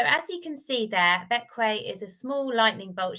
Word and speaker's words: Bequia: And also just to mention, despite being spelt more like Bequia, it's actually pronounced Bequia. So as you can see there, Bequia is a small lightning bolt shaped island.